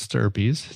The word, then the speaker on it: stirpes: And it looks like stripes, but it's Stirpes.